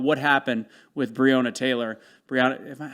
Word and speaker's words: Breonna: Brianna, how am I pronouncing it? Is that right? Brianna. Brianna? Yeah. Okay.